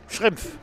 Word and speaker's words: Schrimpf: His last name is S-C-H-R-I-M-P-F. How do you say it? Schrimpf. Schrimpf. Like shrimps. Shrimps?